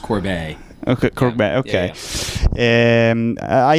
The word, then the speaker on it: Corbet: People can pronounce it however they prefer, but it is pronounced Corbet.